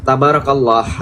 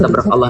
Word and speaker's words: tabarakallah: poin kelima Masyaallah tabrak Allah jangan ditabrak ya tabarakallah harusnya yang jelas pronunciation-nya biar orang engak tabarakallah Sepertinya saya mengatakan tabarakallah tapi kalau bilang tabakallah nanabakallah ya baik Mas J atakan silakan betul